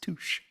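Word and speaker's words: touché: Actually, it's pronounced touche.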